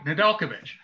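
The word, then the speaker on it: Nedeljkovic: to him hey alex how do you say your name please and he told me nedelkovich first thing i i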